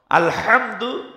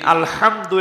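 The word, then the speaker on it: الحمد: বড় হা শক্ত হাটা কন্ঠের মাঝখান থেকে হা এইভাবে শক্তভাবে উচ্চারণ হয় আরেকটি রয়েছে স্বাভাবিক হাটা বাংলার হয় আকার হার মতে স্বাভাবিক কোন কষ্ট নেই এই দুইটা হা আরবিতে ব্যবহার হয় আলহামদু এখানে শক্ত হা বড়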